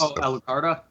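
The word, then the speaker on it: Alucarda: called I think I don't remember how to pronounce but it's Alukarda.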